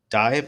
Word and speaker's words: DiVE: And then Mega Man is apparently returning, but it's only for Steam, iOS, and Android with Mega Man X Dive, I guess.